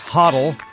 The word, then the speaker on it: HODL: have read holding toal usually pronounced hoddle simply means to buy